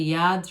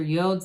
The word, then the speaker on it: Yod: one you've got the yachts or yodes of the tarot either pronunciation acceptable these little droplets the